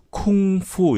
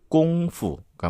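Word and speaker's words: 功夫: 그러니까 쿵후 어떤 사람은 쿵후 어떤 사람은 쿵푸 막 어떤 사람은 이제 그렇게 읽는 거죠. 그래서 쿵훈지 쿵푼지가 됐는데 원래는 꽁푸가 맞습니다. 푸르도 들리기도 하고 후루도 들리기도 하고. F 발음이니까.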